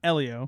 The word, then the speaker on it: Elio: It's pronounced Elio. Elio.